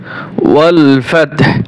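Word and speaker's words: وَالْفَتْحُ: ওয়াও লাম জবর ওয়াল, ফাতা জবর ফাত, ওয়াল ফাতহ হা পেশ হু, ওয়াল ফাতহু, ওয়াল ফাতহু। যখন ওয়াকফ করব তখন হু হবে না, ওয়াল ফাতহ শুধু হা উচ্চারণ করব।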